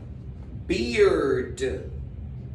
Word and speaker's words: beard: Barba y cerveza se pronuncian casi igual. Barba, beard. Se escribe diferente. Barba, beard, beard. Llega hasta la D. Cerveza, beer, hasta la R.